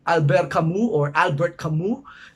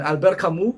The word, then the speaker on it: Albert Camus: In philosophy, we have Albert Camus, in English pronunciation, Albert Camus in French.